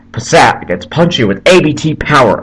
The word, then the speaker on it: Passat: tahoe volkswagen gets punchier sorry not passant passat gets punchy with abt